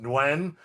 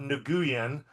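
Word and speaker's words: Nguyen: I know that uh it's pronounced Nwen, not Nuguen.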